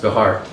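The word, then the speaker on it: Bexar: at bahar county jail b-e-x-a-m-a-r is pronounced bihar so jayananda was also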